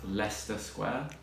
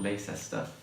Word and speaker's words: Leicester Square: And it's actually pronounced Leicester Square, not Leicester, as many people seem to say.